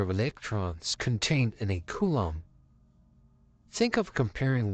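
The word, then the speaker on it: coulomb: everywhere in the world in America we normally say column but the proper pronunciation in English is Kum is a quantity measurement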